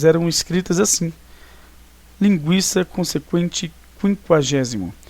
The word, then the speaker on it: quinquagésimo: Nós continuamos pronunciando linguiça e quinquagésimo consequente. Só que o trema foi retirado, né, da língua portuguesa.